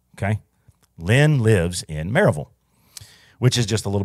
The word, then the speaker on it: Maryville: you live that area you say maraville you don't say Maryville okay people oh no uhuh it's not like Knoxville you say Knoxville it says maraville it's spelled Maryville I know but it's marville okay Lynn lives in